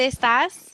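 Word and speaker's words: estás: say where are you donde estas era okay like this with the with the accent on the a okay okay so donde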